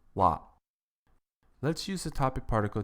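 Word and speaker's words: は: topic into the conversation it is written as ha but is pronounced wa let's use the topic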